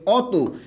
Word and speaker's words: অতি: হচ্ছে অত পার্থক্যটা ক্লিয়ার একটা হচ্ছে ও তি আরেকটা হচ্ছে অ ত দুইটা কিন্তু দুই রকম উচ্চারণ হয়েছে এখানে উচ্চারণটা হইছে ও ত এর রসিকার তি আর এখানে উচ্চারণটা হইছে